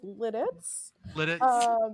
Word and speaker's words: Lititz: Jesus Christ the uh the correct pronunciation is Lititz but the preferred alternate